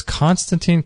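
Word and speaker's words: Konstantin: Gosh, his name is so hard to pronounce. So it's Constantine, K-O-N-S-T-A-N-T-I-N.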